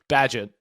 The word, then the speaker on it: Bagent: How do you say it? Bajent. You've been in Europe too long. Thanks. I didn't study it. You've been adding emphasis on wrong letters.